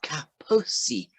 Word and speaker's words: Kaposi: It's Kaposi, no R.